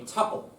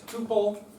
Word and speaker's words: tuple: So a row within a table can also be called a tpple. The correct pronunciation is tpple. Anybody who says tuple is wrong.